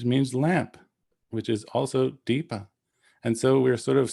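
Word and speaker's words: dīpa: term it's smoothed out so dvipa becomes deeper but there's another sanskrit word which means lamp which is also deepa and so we're sort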